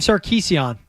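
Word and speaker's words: Sarkisian: Got to pronounce it the Armenian way, by the way. Anytime. Is that Is that like the proper any Armenian last name? Like it's Kardashian. Yeah, it really is Kardashian.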